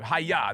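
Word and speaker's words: היה: to moses you know like when you're a little kid and used to practice karate haiya that's the way you pronounce it and it was it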